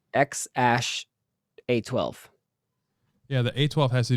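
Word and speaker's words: X Æ A-12: he says that apparent muscles the name is pronounced x-a-12 uh but it's it's x ash a12 yeah the a12 has to do something like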